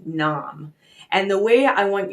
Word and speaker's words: Nam: it's pronounced sat and then n m that's pronounced Nam and the way I want you to use